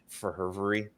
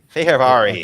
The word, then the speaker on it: Fehervari: If someone could just shout out Pavel or Verhervery and let us know how to actually say that man's name, that'd be great. Verhervery. Fehervari. According to the NHL pronunciation guide.